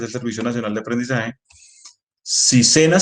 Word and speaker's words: SENA: servicio nacional de aprendizaje sena se puede pronunciar como palabra natural en español ya no va a